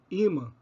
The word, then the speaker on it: imã: que são palavras paroxítonas são palavras que possuem a penúltima sílaba tônica gratuito avaro homem caráter imã tui em gratuito vá em avaro homem o raá em caráter I em imã Então por terem a